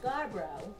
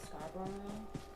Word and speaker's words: Scarborough: an idiot i am because i pronounce scarbro i was pronouncing that scarborough yeah you can always